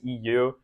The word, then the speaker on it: eeiu: And then when I changed it to eeiu, I realized it also like the way that you pronounce it is EU, which is Europe, which is where my parents are from.